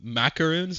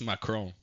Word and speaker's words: macaron: Not not to be ADD, but like apparently they uh macaroons or whatever, like people call them macaroons. They're not called macaroons. It's it's macrome.